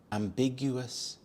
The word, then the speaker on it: ambiguous: of becoming an engineer ambiguous ambiguous the stress is on the second syllable big ambiguous this is when something